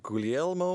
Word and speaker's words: Guglielmo: time the Italian inventor guglielmo marconi Marconi butchered that name now he was gaining steam in England working on wires well there's a G but I think the G is silent I'm not Italian so